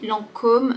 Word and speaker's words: Lancôme: Ici, Lancôme, c'est uniquement pour faire un peu plus prestigieux, plus élégant. Il faut juste prononcer le O de façon plus ronde. Lancôme, Lancôme.